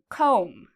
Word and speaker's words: comb: Okay, we have another word here, comb. Okay, so comb is like you comb your hair in the morning. Do you hear the B sound? Comb. No, there's no B sound because again, we have this M.